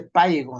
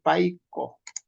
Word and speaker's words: paiko: No se dice paigo, ¿no? Se dice paiko.